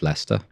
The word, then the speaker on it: Leicester: spelling has changed it's similar to Leicester which is spelt Lester or Lester but pronounced Lester there are lots of